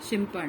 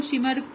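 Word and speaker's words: Schimper: काफी टीचर्स इसको शिमर भी कहेंगे, दोनों राइट है।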